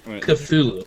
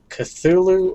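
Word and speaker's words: Cthulhu: you want either or there's no proper way to say it because if you actually say it right cthulu appears Inu yeah that's right it's unpronouncable by the human tongue the funny thing is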